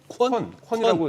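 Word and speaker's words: Qwen: 하나가 콘에 대한 반응들이 사실은 딥시크보다 더 좋습니다. 콘 같은 경우도 딥시크하고 저거 어떻게 읽으라고요? 콘이라고 읽을 겁니다.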